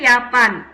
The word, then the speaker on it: Japan: ஜப்பான் சொல்லுங்க யாப்பான். ஜே வந்து வையா ப்ரொனவுன்ஸ் பண்ணோம் இல்லைங்களா யாப்பான்.